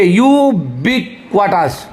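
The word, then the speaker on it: ubiquitous: होता है, तो पढ़ेंगे यूबिक्वाटस। यूबिक्वाटस, यूबिक्वाटस दैट इज यूबिक्वाटस, इस पे ध्यान दीजिए, थोड़ा टेढ़ा मेढ़ा था इसका प्रोनाउंसिएशन है।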